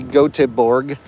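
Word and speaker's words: Göteborg: we head up into gothenburg or as the swedes say goteborg like they spell it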